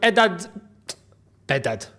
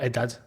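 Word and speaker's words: Behdad: So you're going to have to talk with Bedad, not Edad.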